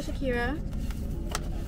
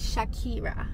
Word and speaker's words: Shakira: your girl Shakira and I need to start pronouncing my name right cuz I've been rewatching my Vlogs and I haven't been say my name right so if I say my own name right how are yall going to say right but my name is shaki ra okay Shakira I'm parked up outside